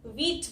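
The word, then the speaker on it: wheat: तो कहीं आपको ह सुनाई दिया? नहीं दिया ना, वीट, क्योंकि यहाँ पे H लेटर साइलेंट है, इसकी यहाँ पे कोई साउंड नहीं है, यहाँ पे बस व की साउंड आ रही है शुरू में, व, W लेटर की व।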